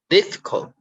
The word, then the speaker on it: difficult: Okay, difficult. So div, you stress on it.